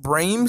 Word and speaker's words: Bram: Or you can also pronounce it Brame.